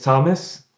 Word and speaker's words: Thomas: Hi, my name is Thomas, Thomas. Thank you. あの、この TH ですけれども、いつも私は TH は歯と歯の間に舌をちょっと入れて、ふというようにと言っていますが、この名前は違います。フロマスではないですよね。、。そして、これのニックネームはトムです。私たち知ってますよね。、we know。うん。彼はですね、ご両親が英国から来られていて、彼自身もその発音をよく聞いてらっしゃるので、アメリカ育ちの発音とちょっと違うところがあるとおっしゃってます。例えば、こちらでは kitten というのを、Thomas, how do you say kitten?